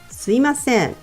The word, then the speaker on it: すみません: Although it's written as すみません, most people pronounce it すいません.